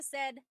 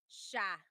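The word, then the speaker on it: siya: But the si y combination that makes a sh sound.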